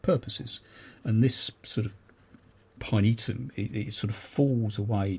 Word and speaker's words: pinetum: but it's actually pronounced pinetum um which again sounds very Latin which is actually means